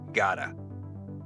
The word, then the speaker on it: gotta: And it's not even pronounced with a T. It's more like a D. Gota gotta I gotta go to work.